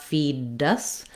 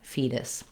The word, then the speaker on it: fetus: I don't want a strong D, not feed us, but rather I lift up to that T and D position, my voice is on, and I just tap up and tap back down, fetus.